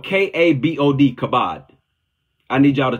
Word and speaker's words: kabod: It's spelled K-A-B-O-D, kabod.